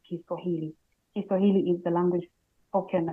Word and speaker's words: Kiswahili: Kiswahili is the language, but people have shortened it to Swahili, but it's pretty much the same. I think it's just a matter of pronunciation and people trying to find an easy way to pronounce. But the proper way to pronounce is Kiswahili.